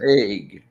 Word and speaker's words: The Hague: So they even have a highlight video from when the games were in how do you pronounce that? Hague? Hog? I The don't know. Hague. Hague. The Hague.